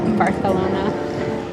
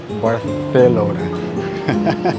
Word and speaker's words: Barcelona: Do you have to say it like that, Barcelona? Barcelona. That is how Spanish people say it, but...